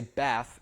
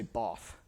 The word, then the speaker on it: bath: This is very, very typical of American English, but it's not typical of like Southern British English, where they don't say bath, they say both, right?